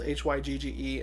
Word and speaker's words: hygge: the definition says hygge it's spelled hyg GE and then it says pronounced hygge obviously it says hygge is